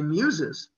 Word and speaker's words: Muses: at people why do you say muses because it sounds like music so music and museum are